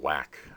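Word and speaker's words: WACC: talking about something called whack wac pronounced whack we'll be talking about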